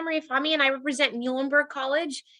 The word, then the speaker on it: Muhlenberg: fami and i represent muhlenberg college easy way to remember how to pronounce that is think of the animal the mule that's our mascot marty emile so muhlenberg